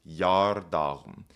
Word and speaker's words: geardagum: You might notice that this isn't pronounced yar, as we might expect with an EA. That's because this E is sort of just a marker. It's here to indicate that this G is making the Y sound and not the G sound.